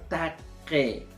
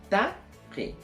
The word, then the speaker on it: taque: Tenemos otro término, taque. Escuchen bien. Taque. Le he puesto la Q en rojo para un poco llamarles la atención, que ustedes puedan aprender a pronunciar. Taque.